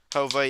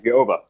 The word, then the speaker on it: Jova: hoba I believe so Hova yes it's Spanish like Hova like like a hoe yes it's supposed to be HOV I thought it was joa I really did think it